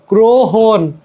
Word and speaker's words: গ্রহণ: তারপরে দেখো গ্রহণ গ্রহণ গ রফলা দিচ্ছি বাট উচ্চারণ সবে কি গ্রহণ রাইট ঐশ্বর্য আহবান আহবান